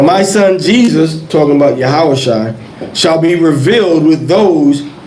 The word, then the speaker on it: Yahawashi: That's how you say it, because it goes into Yahawashi, son of Josedek.